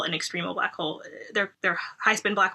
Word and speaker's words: extremal: Also, and I've noticed in your papers, you focus also on extremal black holes. Am I pronouncing that right? Extremal.